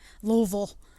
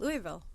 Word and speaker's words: Louisville: I mean, my dad's from Kentucky, and I've always called it Louisville. So I don't know. Never had an S. I mean, it's got an S, but I never pronounce it with the S.